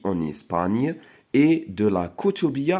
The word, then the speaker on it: Espagne: En Espagne. Donc, GN كنطقوها ني. D'accord?